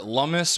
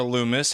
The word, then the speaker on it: Lummis: Okay, so according to Senator Lummis, or Loomis, however you want to pronounce it, she expects that this